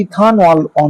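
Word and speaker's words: ethanal: ওয়ান অল ইথেন ওয়ান অল এবারে এটা actually ইথান অল হবে কারণ ওই ইথ আর এখানে কিন্তু এন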